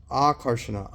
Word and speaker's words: Akarshana: It's Akarshana. is a long A for that.